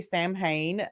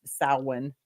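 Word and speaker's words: Samhain: Um, if you say Sam Hayne, um, S A M H A I N.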